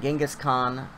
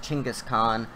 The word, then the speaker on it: Genghis Khan: So the great Genghis Khan, I believe it's actually pronounced Chinggis Khan, was able to capture the biggest landscape of the world.